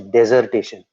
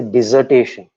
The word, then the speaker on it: dissertation: Many people, many students, in spite of me telling them, they pronounce it as dissertation. It is not dissertation. You are not deserting your subject. It's a dissertation. Disser. It's not desser.